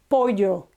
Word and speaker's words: pollo: but they're so similar, the double L and the Y, that for the time being, I think you should stick to just pronouncing them exactly the same.